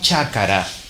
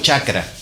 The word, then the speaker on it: chácara: Se nos va la A. Esa A intermedia desaparece en la pronunciación y nosotros decimos chacra. Pero en Bolivia, en partes de Perú, en Ecuador, en países andinos, todavía hoy dicen chácara.